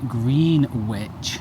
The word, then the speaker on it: Greenwich: We were going to go to the tulip stairs at the Queen's House, but that's in Greenwich. That is definitely how it's pronounced, by the way.